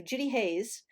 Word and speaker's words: Judi Hays: assume on linkedin yeah my name is spelled um very simply j-u-d-i h-a-y-s so judy hayes and what i say